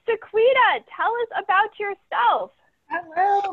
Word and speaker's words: Sequena: move forward all right sequita tell us about yourself hello my name is you pretty much pronounce it i always tell people it's like sabrina with a queue so it's easier to